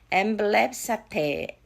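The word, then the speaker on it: ἐμβλέψατε: 엠블랩사테 빨리 한번 해볼게요. 앰뷸런스 생각하면 될 것 같아.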